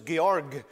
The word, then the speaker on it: Georg: when he started off it was georg uh with a hard g georg muller and no